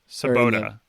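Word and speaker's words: Svoboda: do they say his name in the book sabota sabota so yeah he's kind of Jazz's he's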